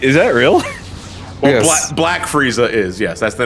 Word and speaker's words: Frieza: for himself that's why he's Frieza not freezer yeah Christ Jason that